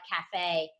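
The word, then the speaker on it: café: have the accent but when e at the end of words like cafe says a that's french from latin yeah sorry mom go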